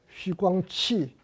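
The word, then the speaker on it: 徐光启: 하나는 우리말로 해서 서광계, 그 다음에 또 한 사람은 이지조, 그 다음에 또 한 사람은 양정균, 이 중국말로는 쉬광치, 그 다음에 리쩌자오, 그 다음에 양팅쥔 이렇게 발음이 되는데 이 세 사람하고 사귀는 계기가 되었습니다.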